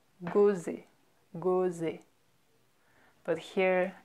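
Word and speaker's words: Gosset: So if you see a double S like that, you know it's pronounced S, right?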